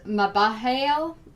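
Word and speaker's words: Mebahel: the eight of swords with maba hail i believe is how you say it it's card 14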